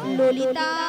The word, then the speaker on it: ললিতা: মাসি ওটা লালাই লালাইও নয় তাহলে? আর ললয় ললয়ও নয়, বলো ললিতা। লো লো লো লো। বলো ললিতা, ভালো করে উচ্চারণ করো।